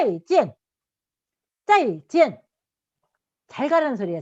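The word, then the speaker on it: 再见: 하는 거예요 자 이지요 짜이찌엔 잘가란 소리는 잘 갈 자가 자이기에 한번 해 보세요 앞을 좀 세게 발음하고 뒤로 좀 약간 연하게 야 자 이제 4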